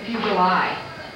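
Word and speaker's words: Fuglei: this genealogy we met a branch that spelled f-u-g-l-e-i and they say fuguli which was the original Norwegian accent okay what was his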